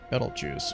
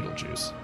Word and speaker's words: Betelgeuse: we replace the sun with Betelgeuse, or Betelgeuse, or really however you want to pronounce it, but if you go look up pronunciation, it's gonna be Betelgeuse. I don't know, I got a lot of complaints about that, but that's how I've always heard it.